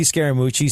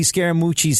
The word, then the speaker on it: Scaramucci: I was going to ask you how to pronounce that because that's a scary last name. He's from. It's so Anthony Scaramucci sounds like so many kids I knew from Long Island.